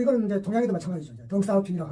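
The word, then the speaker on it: 덩샤오핑: 덩사오핑이라고 하느냐, 등소핑이라고 하느냐. 뭐 둘 다 말해도 알지만 덩사오핑이라고 하는 것이 왜냐하면 본인이 어떻게 불렸으니까 그것이 K 춘추답다.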